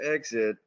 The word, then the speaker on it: XIT: It's pronounced Exit, of course, with the pun being that you're exiting your IT out.